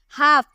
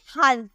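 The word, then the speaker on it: half: Pronounce करेंगे, हम बोलेंगे हाउस। लेकिन नहीं, यहाँ जो एल है ना, ये साइलेंट है, ये चुप है, ये नहीं बोल सकता, इसे हम बोलेंगे हाफ।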